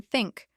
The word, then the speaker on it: think: native language for example the thash sound in think requires placing the tongue between the teeth while the r sound